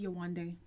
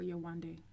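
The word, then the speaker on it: Yewande: listen her name is yonde her parents named her yowan day i'm sure we've even whitewashed the pronunciation but at the end of the day it's yawandee yeah i'll go butcher up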